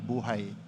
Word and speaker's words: buhay: Because if you spell it out, it's phonetically the word for life in Filipino. B-U-H-A-I, buhay.